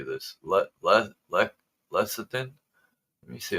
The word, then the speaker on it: lecithin: Lecithin? Let me see how this is pronounced.